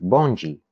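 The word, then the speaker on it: bonde: So the word bond, pronounced bonji in Brazilian Portuguese.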